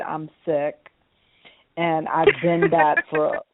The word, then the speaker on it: Sikh: about it yes um it's spelled SI i k sick and sick means you